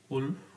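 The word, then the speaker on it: Wolff: उल्फ किस्नर reaction है ना, उल्फ बोलते हैं, लेकिन यहाँ पर एल क्या होगा? साइलेंट होगा।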